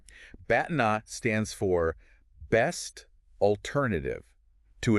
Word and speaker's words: BATNA: You want to get a handle on BTNA, pronounced Batna. Batna.